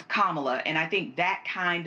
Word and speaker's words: Kamala: more about pronouncing properly her name is Kamala not Kamala it's Kamala and I think that